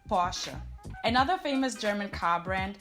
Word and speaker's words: Porsche: Of course, the most known are this is actually pronounced in German Porsche. In English, most people would say Porsche, but in German, it's actually Porsche.